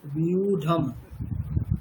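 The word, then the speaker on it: व्यूढम्: আছে, युद्धं বিউঢম, বলুন বিউঢম। युद्धं আচ্ছা ওখানে ধ নেই, ঢ আছে, ট ঠ ড ঢ, তাহলে বিউঢম।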